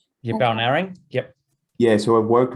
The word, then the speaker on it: Balnarring: We worked on the primary toolkits with, I always say it wrong, Balnarring. Yeah, Balnarring.